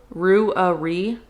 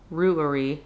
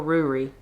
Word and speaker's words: Ruairi: It's a Scottish Gaelic name typically pronounced Ru Ruairi roughly three syllables Ruairi or Rory.